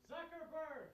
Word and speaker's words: Zuckerberg: Zuckerberg.